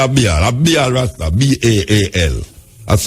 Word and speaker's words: Baal: a god, and them call the god Baal. A B-A-L. That's how you pronounce it. Big scholars behind me. Tell me if that's how you pronounce it. Baal, B-A-A-L.